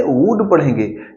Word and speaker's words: would: मे, MAY, may, might, MIGST, might, वुड, WOULD, उल्ड नहीं पढ़ते, वुड पढ़ेंगे।